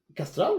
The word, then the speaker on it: Kastral: It's Castral, right? Yeah. And the the bird is Castrol.